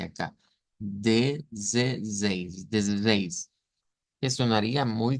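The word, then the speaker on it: dezesseis: La primera pronunciación nos dice que debemos decirlo como desde seis, desde seis, con esa Z vibrante acá, desde seis, desde seis, que sonaría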